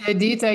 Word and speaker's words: Edita: So it's Edita, yeah, you are saying it right.